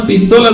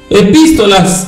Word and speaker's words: epístolas: epístola a Los colosenses no son las pistolas de los colosenses mis hermanos un acento en la i epístolas a los colosenses Aunque